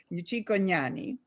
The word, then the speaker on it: Cicognani: Actually, the GN in Italian is a very difficult pronunciation because it doesn't exist in America. It's gna, as in gnani, Cicognani.